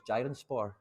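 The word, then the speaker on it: Giresunspor: too much detail but it's jiren spore that's that's how you say it they're a green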